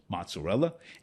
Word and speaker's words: mozzarella: And the last one, some cheeses like mozzarella, yeah, that's the pronunciation, mozzarella, and cheddar, they can be made into string cheese by stretching and pulling the curd, right?